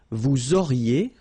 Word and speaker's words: vous auriez: Vous auriez, liaison here, and then EZ will go like E.